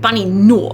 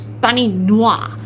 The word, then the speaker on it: Bunny Noir: Oh, and this is just popping back into say it's not bunny no, it's bunny noir.